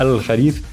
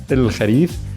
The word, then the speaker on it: الخريف: In dialect, typically instead of al, we have il, right? So instead of al-kharif, il-kharif.